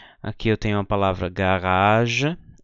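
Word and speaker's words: Garage: a palavra jre aqui eu tenho a palavra garaj e aqui eu tenho a palavra gaja Ah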